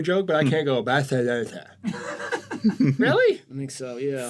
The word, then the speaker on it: Barcelona: It's pronounced Barcelona.